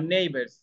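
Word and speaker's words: neighbours: না কিন্তু লিখতে হয় জি এইচ আমরা উচ্চারণ করি না কিন্তু লিখতে হয় তাইলে আমরা পড়ছি মূলত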